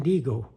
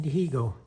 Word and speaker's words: Dihigo: And in Spanish, that's how you say, you don't pronounce the H, so it's Martin Dihigo, but it's Martin Dihigo.